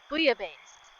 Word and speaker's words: bouillabaisse: Okay, how do I pronounce it? It says... bouillabaisse is what it says.